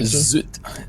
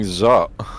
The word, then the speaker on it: Zutt: Well, we've started saying Zoot. So, it's zoot again. I've been saying zot. Okay. Oh, yeah. It looked like a zoot to me. Like a z u tt.